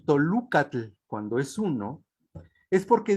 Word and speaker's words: Toluca: su historia de Texcoco, que los misioneros observaron que los mexicanos pronunciaban la O y los texcocanos la U para decir la misma palabra. De ahí que los Tenochcan dijeran Tolocan y los Matlacincas dijeran Toluca.